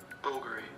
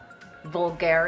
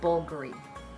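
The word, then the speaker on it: Bvlgari: YouTube and it's going to say it bulgary bulgary bulgary bulgary okay it's not vulgar it's bulgary now I know and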